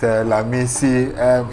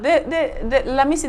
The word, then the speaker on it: Lamisi: All right, we're still having, you know, that wonderful chat with Lamisi.